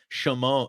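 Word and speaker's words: Šimon: it kind of matters shimone sh sh gotta put that little sh at the front end of it right yeah yeah and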